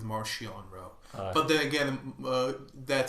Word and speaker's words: Marchion Ro: At least Mark Wolf pronounces it Marchion Row.